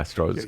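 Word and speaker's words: Strzok: about Trump, and they said they read through Stroge. Am I pronouncing it right? Yeah, Stroge.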